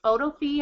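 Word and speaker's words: Photofy: so Instagram photo fee photo fee I think is how you say p h o t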